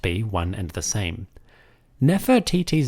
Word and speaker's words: Nefertiti: In Egyptian, this name is Nofret Iti. We pronounce it Nefertiti.